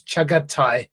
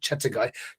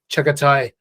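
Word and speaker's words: Çağatay: name I do apologize it's chagat Thai not chattagai chagatai copina um and um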